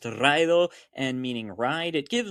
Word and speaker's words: raidō: Despite being pronounced “raidō” and meaning “ride,” it gives modern Anglish Road, and Ccythic Rrood.